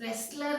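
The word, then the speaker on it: wrestler: Sakshi Malik, W के बाद आर, शी इज अ रेसलर, डब्ल्यू की साउंड ही नहीं आएगी, प्रोनाउंस नहीं करना है यहाँ पे डब्ल्यू को, बिल्कुल कंफ्यूज नहीं होना है।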